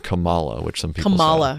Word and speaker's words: Kamala: Kamala Harris, Cory Booker. Kamala. Is it Kamala? Kamala. I thought it was Kamala like no, Pamela. Like Pamela, no.